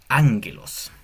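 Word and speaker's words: ἄγγελος: Tenemos el primer sustantivo que es ánguelos. Esta doble G, esta doble gama que hay aquí se pronuncia como NG, á angelos significa mensajero o ángel.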